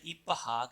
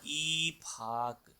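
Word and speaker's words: 입학: अगर non native की तरह पढ़ेंगे इसको बोला जाएगा इपहाक, लेकिन अगर कोरियन की तरह पढ़ेंगे तो ये बोला जाएगा ईफाक।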